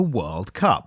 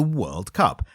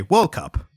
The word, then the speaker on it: World Cup: So here in the UK, we say the World Cup because the emphasis on the world part. It's the World Cup. And Americans, they say, whenever they reference it, they say World Cup.